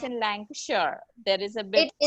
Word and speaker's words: Lancashire: Some people do call it that way, but usually Britishers call it Lancashire.